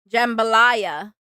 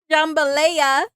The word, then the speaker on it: jambalaya: Jambalaya. Oh. Oh. Jumboa. Look. Okay. In my defense, that's how it's spelled. It's spelled like it should say lei.